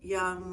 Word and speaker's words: Jung: uh on Carl Young, which way I always say his name wrong. I think the Jay's quiet.